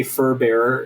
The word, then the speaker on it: furbearer: So if anybody's unfamiliar um this is the way that you'd say furbearer. It's it's pronounced like kind of like paulbearer.